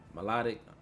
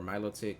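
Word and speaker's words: Milotic: Melodic or Miloic, how you want to pronounce it.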